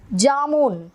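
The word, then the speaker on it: जामुन: அதுக்கு ஜாமூன். ஜாமூன், குலோப் ஜாமுன் சொல்கிறோம் இல்லையா? அந்த ஜாமுன் மட்டும் ஜாமூன் அப்படிங்கிற உச்சரிப்பில் சொன்னால் அது வந்து நவாப்பழத்தை குறிக்கும்.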